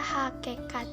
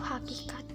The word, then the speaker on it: hakikat: diubah menjadi e-choo toh katanya yaitu hakikat yang dibaca hakekat yang semestinya itu hakikat yang kedua analisis kesalahan